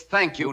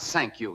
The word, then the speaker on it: thank you: It's thank you, not sank you. You gotta make the sound.